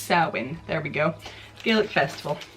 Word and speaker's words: Samhain: Pronounced Samhain.